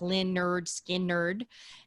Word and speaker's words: Lynyrd Skynyrd: Lynyrd Skynyrd came out with their first one pronounced Lynyrd Skynyrd in 1973 highway to hell ac/dc eat a